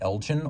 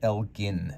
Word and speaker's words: Elgin: I know some people ask how it's supposed to be pronounced. People from Illinois tell me Elgin, although the Scottish original would have been Elgin back in Scotland.